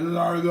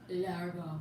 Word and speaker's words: lardon: You have to say it like lardon. Oh. How you say it, Kristen? Largo.